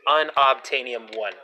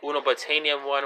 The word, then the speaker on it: Unobtainium: to spell all this but basically it is pronounced unobtainium one so though just sitting to say and una Betania 1 or um betaine IAM know it is unobtainium